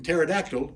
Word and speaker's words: pterodactyl: The P in pterodactyl is silent.